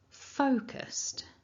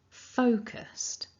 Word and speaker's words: focused: left tells us that the first syllable is stressed so the pronunciation of this word is focused focused the split is in